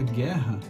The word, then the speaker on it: guerra: Só que nessa palavra, a gente pronuncia guerra com o E aberto, né?